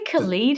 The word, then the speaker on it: Khalid: Well, what happened was it was a night that I don't know if you pronounce it Khalid or Khalid. We say Khalid here, but yeah.